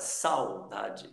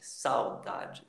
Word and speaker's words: saudade: Aqui na outra palavra, saudade, saudade, saudade. O u está bem fraquinho, o a está se destacando, o u está fraquinho, então saudade.